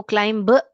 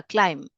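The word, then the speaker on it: climb: जो है राइमिंग है इसको क्लाइंब ब ऐसे नहीं पढ़ने का क्लाइम क्लाइ क्लाइम बी जो है साइलेंट है यहां पे क्लाइम टाइम तो इसलिए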